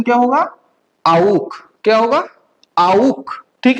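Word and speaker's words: auch: आउक। क्या होगा? आउक। ठीक है, ए यू हम लोगों को पता है, ठीक है, आउ बनता है, और CH का प्रोनाउंसिएशन ख, सो क्या बना? आउक।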